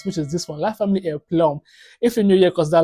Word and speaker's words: La Famille en Plomb: Yeah, I think I finally got how to pronounce a video title right, which is this one, La Famille en Plomb.